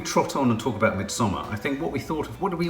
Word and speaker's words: Midsommar: How do you pronounce it? Midsommar. Yeah. But it's Swedish.